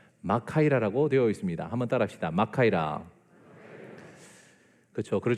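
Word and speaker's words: μάχαιρα: 그죠 블루베리 스무디 그렇습니다 그런데 제가 원어를 찾아보니까 마카에라의 제일 먼저 강세가 지킵니다 그래서 마카이라 합니다 마카에랑 사진 하나 띄워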